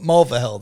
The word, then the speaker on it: Mulvihill: We had Edward Hartman and Mike Mulvihill. Yes. Sorry, Mike Mulvihill. Sorry, if you guys watch the show, you know I'm not very good with names, but Mulvihill, that's how you say it.